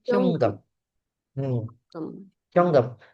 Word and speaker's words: 현금: Bacanya Hyonggem.